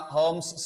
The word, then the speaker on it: Holmes: So the mixture of phosphine, calcium phosphide and calcium carbide, either anyone, it is used in a Holmes signal, L is silent, and also in a smoke screen.